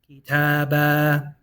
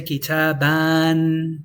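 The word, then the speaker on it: كِتَابًا: Kitaba. So you just have to get used to it and know that kitabun, kitab. Kitabin, kitab. Kitaban, kitaba. And don't say kitaban. Don't read that alif.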